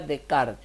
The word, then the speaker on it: Descartes: kart en la prisión se escribe descartes pero se pronuncia de kart este no lo habíamos